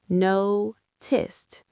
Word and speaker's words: noticed: That's a T ending. Notice how it sounds. No-tist.